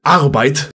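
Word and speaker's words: Arbeit: for work by the way and it's actually pronounced arrowbite magnet law has since stated that this was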